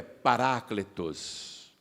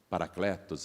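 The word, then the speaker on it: παράκλητος: de secaram Esta palavra a palavra em grego é paráclitos nós falamos paracletos aqui no Brasil mas em grego a pronúncia mais aproximada é essa que eu te falei para aclitos eles viram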